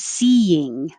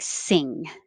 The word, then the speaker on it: seeing: high in the back so you could think of it as seeing seeing as long as it has two parts two syllables otherwise it might sound like sing which is just a single syllable and ten well we